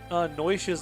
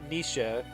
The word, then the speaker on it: Noish: Yeah, I know Noisha's name is like Nisha, which I still have to get into the habit of saying correctly now. Instead of Noish.